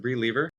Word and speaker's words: Bri Leever: are here now with brie lever am I pronouncing that right is it Bri lever yeah Bri I'm so glad you're here welcome